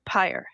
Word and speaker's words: Pyr: You also worked for a company called Pyr. Am I pronouncing that right? Pyr? Pyre, Pyr. pyre. That makes I should have caught that as soon as I said it.